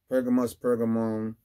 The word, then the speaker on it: Pergamum: Pergamum, you can pronounce either way.